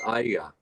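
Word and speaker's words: Arya: It's Ira. It's a 2-syllable word.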